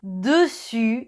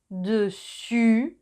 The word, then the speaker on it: dessus: Entonces, cuidado, dessus, dessous, dessus, dessous. Y una cosita más, la S final de dessus y dessous es silenciosa, o sea que no se pronuncia.